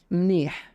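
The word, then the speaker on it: منيح: It comes from milh, as in salt. Malih, salty. But the la becomes a na. Phonetically, they're very similar in terms of where you put your tongue in your mouth. La and na. So mlih becomes mnih.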